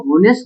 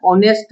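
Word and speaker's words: honest: अगर आप इसको होनेस्ट बॉय पढ़ते हो हु तो आप रोंग पढ़ रहे हो। एच यहां पर साइलेंट है। इसे पढ़ा जाएगा ओ। ओ आपको इसको पढ़ना है। ऑनेस्ट बॉय। ऑनेस्ट।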